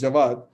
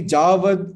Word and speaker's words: Jawad: My name is Jawad. It's pronounced as Jawad. People calling me Javad or Jawad or whatever, I can bear. But when people change it totally to Javid, is something that, I find really unbearable.